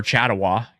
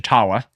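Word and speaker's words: Chatawa: But, uh, we were watching this one for Chattawa cuz I had originally pronounced it chawa.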